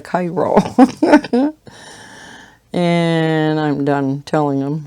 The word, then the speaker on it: chiro: lot of people say choir practice it's like you know they just transpose a couple letters and you get choir instead of the chiro and i'm done telling